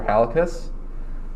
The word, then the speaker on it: Halekas: is cole dorman i'm here with dr halicus uh if you'd like to introduce yourself uh